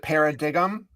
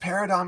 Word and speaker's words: paradigm: Oh, When I first learned the word in high school, I used to pronounce it paradigm. right. Because it's paradigm, until the Mhm. teacher was like, "What are you trying to say there?" And I was like, "Paradigm." And they're like, "No, it's pronounced paradigm."